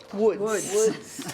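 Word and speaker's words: Łódź: So she says she's from a place called Woods, and this is how you spell Woods. That's how it's pronounced.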